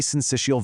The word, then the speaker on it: Syncytial: Syncytial, pronounced syncytial.